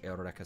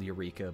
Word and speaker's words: Eureka: I got them to watch Eureka 7, which is very good. It's spelled Eureka, but it's pronounced Eureka for some reason.